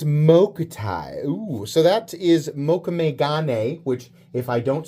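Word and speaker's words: mokume-gane: Ooh, so that is mokumegane, which if I don't say right, the people who correct me with the correct pronunciation of mokumegane are a lot more aggressive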